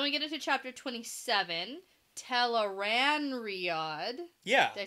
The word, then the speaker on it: Tel'aran'rhiod: So we get into chapter 27, Tel'aran'rhiod.